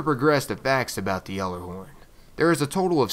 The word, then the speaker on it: Gjallarhorn: Supposedly the G is not even pronounced in this word and it is clearly out there.